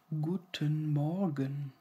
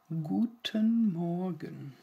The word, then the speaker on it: guten Morgen: people say guten morgen guten morgen it's good morning good morning here the morning is similar to Morgan and guten is it same like in guten tag and similar to good guten morgen guten morgen in in